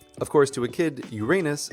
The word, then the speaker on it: Uranus: seventh planet is pronounced Uranus. Of course, to a kid, Uranus sounds an awful lot like your anus which is how I